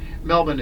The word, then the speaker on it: Melbourne: it just depends where you're from but yeah Melbourne is is is the pronunciation so if you said Melbourne uh they